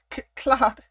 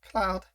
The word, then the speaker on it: Claude: I thought that's my roommate, Claude.